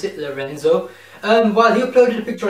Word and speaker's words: Lorenzo: It's with Jerry Lorenzo, that's how you pronounce it, Lorenzo.